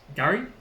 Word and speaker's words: K'gari: name of fraser island to its patroller name pronounced gary which translates to paradise which derives from the